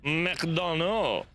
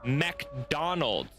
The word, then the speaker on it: McDonald's: or do you say McDonald? Because that's an American thing. It was made in America, and the actual way to pronounce it is McDonald's, not McDonald or anything like that. It's McDonald's.